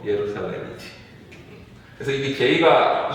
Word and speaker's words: 예루살렘: 우리 이런 거 있잖아. 예수라고 있지. 지셔스라고. 미국 놈들은 이상하게 있잖아. 예루살렘도 아니라 제루살렘이라고 있고. J를 그냥 J로 발음하는데 원래 이제 본토 발음은 뭐야? 예수, 예루살렘이지.